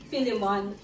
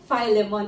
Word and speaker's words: Philemon: noon I thought that I thought that the pronunciation of this is Philemon in in in Philippines but I learn that the pronunciation of this another another Uh another learning is Philemon Iba talaga agag nag-aaral